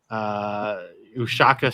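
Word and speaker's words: Uyesaka: in the Big West at Ushaka Stadium. I believe that's how you pronounce it.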